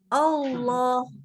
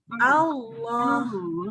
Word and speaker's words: Allah: Allah ini saking semangatnya ketemu lamnya tebel bacanya jadi Allah Allah nggak boleh harus a dulu Allah Kenapa baru-baru Takbir Allahu akbar eh jadi Allah deh nggak boleh ya harus ah depannya a ingat Allah Allah itu kan memang nanti